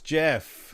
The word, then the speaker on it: GIF: guy who created it says it's called says it's jeff yeah the creator he does and then you ask him so what's it stand for and he says graphic with a hard g and like dude what